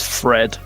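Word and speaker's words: Pffred: plasmo Fred the plasmoid Fred is spelled p f f r e d p i got rewrite it now P FF it's like Steven spell with a pH yeah at the start St my name's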